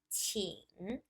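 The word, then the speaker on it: 请: means to invite and the pronunciation is chin the third tone of the character so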